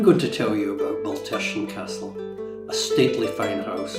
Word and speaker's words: Baltersan: Baltersan, now, please note the pronunciation. Baltersan rhymes with person. Easy to remember. It's a Gaelic name meaning cross standing of a farm at a crossing place. Baltersan was built in 1584